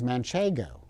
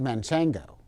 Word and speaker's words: Manchego: excuse me sir but the correct pronunciation is manchego not to manchengo lastly the ego driven